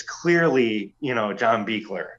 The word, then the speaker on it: Buechler: Next up is John Carl Buechler or Buechler? How do you say? Oh, Buechler. John Carl Buechler. Yeah, that's right.